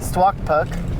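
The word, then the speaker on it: Stuaqpak: How do you say that? Stwakpuk. Stwakpuk.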